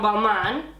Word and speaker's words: Balmain: But I must say, this mask, this is also my second favorite from Balmain.